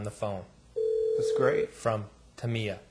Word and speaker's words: Tamiya: a couple questions M how do you pronounce it is it tamama or Taya tamama it is tamama we get a lot